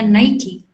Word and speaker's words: Nike: Itu padahal cuma merek aja, kita salah penyebutannya Nike. Itu kita bacanya Nike.